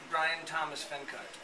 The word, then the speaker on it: Bryan Thomas Fenkart: Bryan Thomas Fenkart.